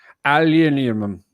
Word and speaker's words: aluminium: on the show dame how the brits say aluminum aluminium this portable scent machine